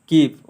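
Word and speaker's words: Kyiv: capital है कीव okay so देखो pronunciation may बी भैरिड सो आई can pronounce it like कीव so other may be like कीव सो it depends on you which one you will adopt that is कीव next one that is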